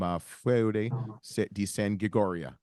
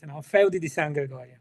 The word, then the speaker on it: Feudi di San Gregorio: We got Antonio Capaldo from Feudi di San Gregorio. All right, I butchered it.